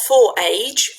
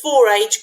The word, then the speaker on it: forage: have a go not for age you said four age good but it's you pronounce it forage forage this one hmm